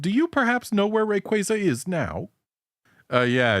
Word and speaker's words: Rayquaza: It's said that it's pronounced Rayquaza, but those people are wrong according to official pronunciations.